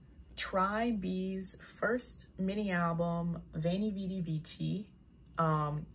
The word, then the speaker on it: Veni Vidi Vici: bee's first mini album vani vidi vici um fun fact actually the correct latin pronunciation would have been wayney weedy wiki but i'm going with a more modern pronunciation veiny vidi vici anyway um i have